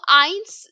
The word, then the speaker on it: ein: z i so see EI is pronounced as I right so Ein is One S is two three